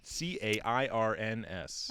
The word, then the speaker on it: cairns: you say that word c-a-i-r-n-s i call them cairns cairns it sounds like there's you're saying karen well that's so that's